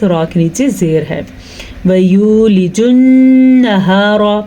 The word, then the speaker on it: وَيُولِجُ: وَيُولِجُ النَّهَارَ، پھر سے خیال رکھنا ہے وَيُولِجُ نہیں پڑھنا آپ نے. ٹھیک ہے، وَيُولِجُ واو مدہ، غنے کے ساتھ نون اور ہا کے تلفظ کا بھی دھیان رکھنا ہے اور را کو پر پڑھنا ہے.